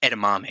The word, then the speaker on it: edamame: Years ago, I went to a sushi place and ordered, I think it's edamame is how you pronounce it.